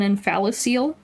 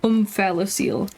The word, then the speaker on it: omphalocele: So the baby has what's called an omphalocele. Spelled with an O, omphalocele, not omphalocele, which is kind of like it's a very weird word, but you know, science words hard.